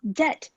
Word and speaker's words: debt: I abhor such fanatical phantasms, such insociable and point-devised companions, such rackers of orthography as to speak doubt, fine, when he should say doubt, debt when he should pronounce debt, D-E-B-T, not D-E-T.